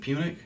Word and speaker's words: Punic: Is it Punic? Yep. Okay. Yep. I was going to say it wrong. Second Punic War.